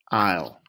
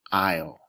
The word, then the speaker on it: aisle: it's it sounds it's Isle Isle there two letters that really don't make a sound the a doesn't really make a sound and the S really doesn't make a sound aisle